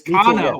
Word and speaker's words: Cano: I keep saying it wrong. It's Cano.